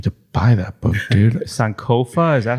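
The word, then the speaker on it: Sankofa: been I need to buy that book dude sanova is that how it's pronounced yes sir exactly yeah so sanova is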